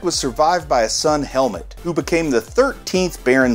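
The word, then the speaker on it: Helmut: survived by a sun helmet who became the 13th baron zemo or is that pronounced like hell moot h-e-l-m-u-t i don't know i say helmet learning of his father's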